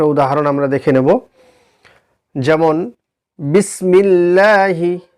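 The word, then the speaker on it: بسم الله: বারিক হওয়ার একটা উদাহরণ আমরা দেখে নেব যেমন বিসমিল্লাহি বা সিন বিসমি লামের মিল বিসমিল লাম খারা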